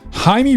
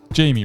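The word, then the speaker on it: Jaime: Blue Beetle is the story of Haimey Reyes or Jamie Reyes depending on how you're pronouncing it. But I'm going to go with Haimey.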